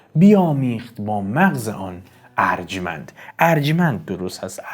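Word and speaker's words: ارجمند: bā maghz-e ān arjmand" "arjmand" is accurate; I've noticed many pronounce it "arjomand" but that is incorrect "arjmand" is the correct pronunciation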